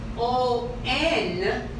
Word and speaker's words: On: If I write O-N, we say On. But if I put E, we say one. It's not one. This is On.